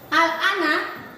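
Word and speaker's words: آلْآنَ: Alifnya dulu panjangkan 6 harokat, baru lam sukunnya masuk.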